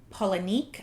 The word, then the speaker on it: Palahniuk: I watched several videos on how to pronounce it, and there are a lot of different ones, but this one seemed the most common one. Palahniuk. Some people say Palahniuk, I don't know.